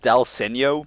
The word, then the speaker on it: dal segno: sisters next to you okay so it is pronounced dal segno because it's referring it's actually an adjective used